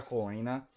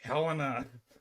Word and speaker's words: Helena: Yeah, whatever you do, don't pronounce Helena Helena. I still can't figure out why people. Have you met a Helena? You meet a Helen. St. Constantine's mother is St. Helena. So I don't know where people get the Helena pronunciation.